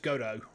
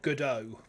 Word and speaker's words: Godot: You don't think you pronounce his name since the... Oh, so it is actually just Godot. As in... Or Godot, I suppose.